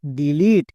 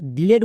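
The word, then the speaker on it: delete: টি, টি এর জন্য টো, শেষের ই সাইলেন্ট, একসঙ্গে উচ্চারণ করো ডিলিট। তাহলে আমরা ডিলেট বলছিলাম, তার মানে ভুল উচ্চারণ করছিলাম। এই ওয়ার্ডটির সঠিক উচ্চারণ হবে ডিলিট।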